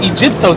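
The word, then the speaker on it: Αἴγυπτος: It's pronounced Egyptos. It's a Greek word, right?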